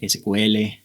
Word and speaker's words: SQL: historia de sico verdad se puede pronunciar sql pero vamos a pronunciar los ciclos vamos a acostumbrarnos que nos queda más fácil de esa forma de acuerdo hay una controversia muy grande en Cómo pronunciarlo correctamente pero nosotros simplemente vamos a hablar de secuela aquí de acuerdo Entonces